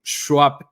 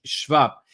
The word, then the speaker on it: Schwab: es klaus Swap eh la gente suele pronunciarlo a este lado del mundo Swap como si fuera un nombre Eh inglés es un nombre alemán klaus schwab y qué es lo